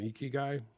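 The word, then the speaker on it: ikigai: And that's where if I can get everyone focused on a QPI is the same as an eeky guy.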